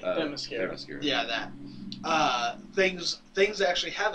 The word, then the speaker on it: Themyscira: like I said, there were so many scenes in that trailer where on their home island that I can never pronounce correctly. Themyscira.